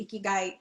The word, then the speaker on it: ikigai: 10 or so years so how do you pronounce it so as you've been hearing ikigai and i know sometimes um i saw someone